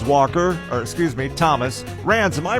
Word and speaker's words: Rans: great day for ranz walker or excuse me thomas rands am i pronouncing your name correctly uh yeah christopher that